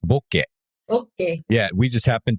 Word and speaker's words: bokeh: japan so in japanese it's actually originally a japanese word it's pronounced bokeh okay yeah we just